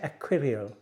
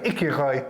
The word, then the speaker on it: Écureuil: Aquarial. Écureuil.